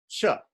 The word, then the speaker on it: ca: we have this C now C in in in in Sanskrit is already pronounced like the CH in chair in the would chair so it's like this Chuck although there's no H there it's pronounced Chuck Chuck Chuck Chuck Chuck